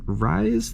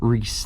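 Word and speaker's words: Rhys: Rise the Evermore, or Reese the Evermore, excuse me. I know some people are very particular on how his name is pronounced.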